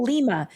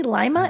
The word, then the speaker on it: Lima: I want to call Lima. It's really Lima. L I M A I like the way they pronounce it. Like the bean.